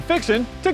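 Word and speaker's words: fixin' to: te' while it's spelled as fixing to you pronounce it fixing to it's simply an expression used to announce your intent I'm fixin to get a breakfast taco I'm fixin to mow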